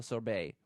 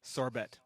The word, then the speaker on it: sorbet: hard-boiled eggs and pimento sorbet. You really don't get the concept of silent letters, do you? That's my money. Sorbet.